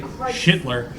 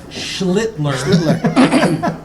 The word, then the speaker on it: Schlittler: Hang on, let me get the name right, because I don't want to say Schittler. It's Schlittler.